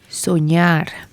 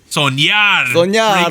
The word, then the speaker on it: Soñar: NMIXX pre-release with How do I pronounce this, Anita? Soñar. Soñar.